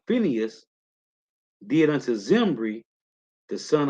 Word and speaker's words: Phineas: Phineas. Okay, Phineas. So back in First Maccabees, Salakia. So it say First Maccabees 2:26. Thus dealt he zealous for the law of God, like Phineas did unto Zimri, the son of Salom.